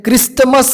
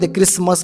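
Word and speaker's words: Christmas: आहे कॅसल बरोबर क्रिसमस क्रिसमस मध्ये काय टी सायलेंट आहे क्रिस्टमस नाही क्रिसमस म्हणतो आपण त्याला अजून फासन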